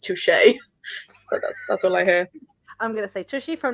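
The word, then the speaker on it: touché: Brooklyn nine-nine where they say like Toshi it's pronounced Touche I'm gonna thank you from now on tushie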